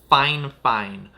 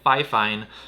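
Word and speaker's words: FIFINE: with several times their their brand name is pronounced fine fine but it's spelled fi fine and in the first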